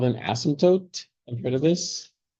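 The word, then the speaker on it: asymptote: There's a silent P in there. Please don't say astope like telescope. Isotope like isotope that that's fine to have the P there but it's an asmtote with a T at the end please.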